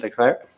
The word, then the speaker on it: Leclerc: If we have Germans, I'm sorry that I put Vettel behind Leclerc.